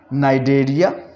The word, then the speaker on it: Cnidaria: तो हमने सीखा कि किस जगह पे किस वर्ड को हमने नहीं बोलना, नाइडेरिया, नाइडेरियन, नाइडॉयल। इन अल्फाजों में हमने देखा कि सी को हम प्रोनाउंस नहीं कर रहे, CN आ गया, नाइडेरिया, नाइडेरियन, नाइडॉयल।